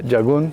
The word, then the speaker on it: jagun: will yours act likeo jagun am I pronouncing it right and what does it mean that's what I say jagun jagun means country in